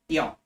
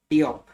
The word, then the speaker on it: Diop: Then with respect to IFC, managing director, Makta Diop. Makta Diop. Current managing director of IFC, Makta Diop. Makta Diop. Now, DIOP, Diop.